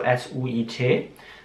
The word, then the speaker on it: suit: Und man sieht da ein I mit in dem Wort drin, also S-U-I-T. Aber das I wird gar nicht ausgesprochen. Also einfach nur Suit.